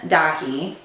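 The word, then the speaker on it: Daithí: My son, Dahi, spelled D-A-I-T-H-I with a fada over it.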